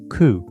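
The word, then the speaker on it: 九: 9 is pronounced ku, which echoes the word for suffering and pain.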